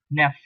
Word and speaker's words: neuf: Number 9, you have NEUF, pronounced as nef, nef, nef. So basically U is not given that due importance, it becomes nef, nef. The U is not pronounced.